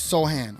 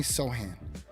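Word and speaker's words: Sochan: too Nick says uh I think it's pronounce soan okay so Jeremy soan Jeremy soan uhoh Maverick's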